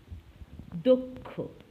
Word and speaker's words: দক্ষ: প্রথম শব্দ দক্ষ, এটা দক্ষ না দক্ষ। এমনই দক্ষ, লক্ষ, বক্ষ এরকম হাজারো উচ্চারণ ওকারান্ত দিয়ে শুরু করতে হবে।